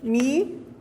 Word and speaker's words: Michiko: Isso também se lê Michiko.